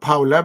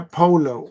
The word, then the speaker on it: Paulo: Not Paolo, Polo.